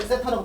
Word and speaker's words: 세타: 근데 이걸 내가 라디안으로 바꾸면 보통 우리가 라디안에서는이 각을 세타라고 표현을 해. 뭐라고? 요렇게 뭐 대지폰 이렇게 써 놓고 얘를 세타라고 읽어 주면 돼.